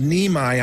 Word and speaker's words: Niemi: His name is Neimi, I'm being told. That's the correct pronunciation of his last name.